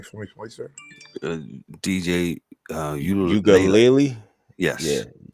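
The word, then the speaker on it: Uiagalelei: DJ Ugalele. Yes. Yeah. Ugalele.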